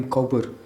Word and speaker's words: Cowper: है ज्यादातर लोग इन्हें विलियम कॉपर कहते हैं लेकिन यह जो वर्ड है कपर उसको कभी-कभी कूपर की तरह भी प्रोनाउंस किया जाता है सबसे पहले हम